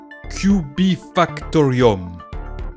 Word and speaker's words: Kubifaktorium: Kubik… Kubika… Ku bi fak to rium. Avec des « k » pour rendre la chose encore plus compliquée.